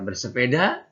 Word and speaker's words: bersepeda: Nah, ini ada gambar bersepeda, bacanya bersepeda. Ingat ya, bukan pakai H. Bersepeda. Pakai H bukan. Sepeda. Sepak bola. Nah, kita kebanyakan nyebutnya sepeda, itu dialek Sunda. Sepeda. Kalau bahasa Indonesianya bersepeda.